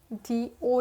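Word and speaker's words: dough: also often that needed flowers known as do d o u g h is pronounced as do next we have t e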